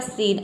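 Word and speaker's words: scene: तो यहाँ पे हम SC को क्या प्रोनाउंस करेंगे, स प्रोनाउंस करेंगे और E का यहाँ पे हो जाएगा EN का हो जाएगा न, ये हो जाएगा आपका सीन।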